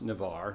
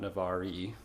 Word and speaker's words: Navarre: if you've been looking into Navarre it's actually pronounced Navarre not Navarre I've heard a lot of people make that